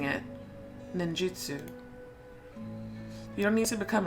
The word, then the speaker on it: ninjutsu: in the ways of stealth ninjutsu may try pronouncing it ninjutsu you don't need to become a shinobi but